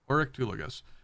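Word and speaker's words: Oryctolagus: Has a fondness for Orictulagus. 4 syllables. Or 5 syllables technically. Oryctulagus is how it was written out in pronunciation for me.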